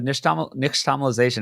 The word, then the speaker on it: nixtamalization: Bill, and it's the nixtamalization. It has an X in there, but I think you're supposed to not say it like an X.